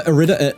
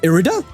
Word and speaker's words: Irida: like if I another Ida Ida irida I think it actually is pronounced irida um off the Poke